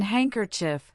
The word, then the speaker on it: handkerchief: And in handkerchief, the D silently disappears.